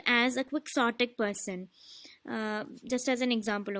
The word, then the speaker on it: quixotic: Quixote എന്നാണ് Spanish pronunciation വരുന്നതെങ്കിലും when the word came, we got a word in English, and this is not Quixotic but quixotic. That is pronounced as quixotic.